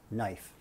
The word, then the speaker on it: knife: she's not familiar with knife her father pronounces knife with a k incorrectly so when she's called